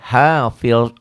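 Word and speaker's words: حافظ: Jangan hafid ya, hafiz zo. Ya, kalau orang Sunda namanya hafidin ya, Pak Hafid. Jadi Pak Hafid jadi dal di Sunda itu ya, hafid. Padahal Pak Hafil zo, tapi susah ya memang fasih itu sih ya mengucapkan. Pak Hafid kemana? Jadi jadi dal. Jadi dal, padahal bukan hafil, zo, menghafal ya, pemelihara.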